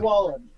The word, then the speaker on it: Wallen: Harley Warren, my bad. Did I say it wrong again? I'm so stupid. Wait, how can people find you? Wallen. Yeah, okay, I got it right the first time.